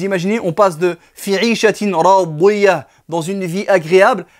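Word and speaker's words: راضية: langue arabe, et notamment le dod qui a une prononciation particulière, qui n'est pas un D grave, mais qui a une prononciation et un point d'articulation particulier dans la bouche.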